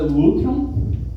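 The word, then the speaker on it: λύτρον: Essa palavra que é o grego, a pronúncia dela é lutron.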